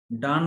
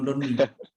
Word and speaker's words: Donne: আমি যখন পড়তাম আমি লিখতাম জন ডন্নি, আমি এটাকে ডন্নি পড়তাম, জন ডন্নি। ডিওটা বলেনি না জন ড। উচ্চারণটা, বানানটা। এই যে ডান, ডিও এন ডান লিখি, ওইটাই প্রোনাউন্সিয়েশন হবে DONNE। হ্যাঁ, ওটাও হবে double ডান। NE, হ্যাঁ, এই ডিও জন্য এন, আমি হ্যাঁ ডান্নি। ওটাও হবে ডান।